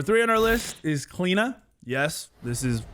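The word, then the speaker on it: Cliodhna: as always number three on our list is cleena yes this is how apparently you pronounce it it's cleena not cleodonna not cledanna whatever kalina clean is one of the few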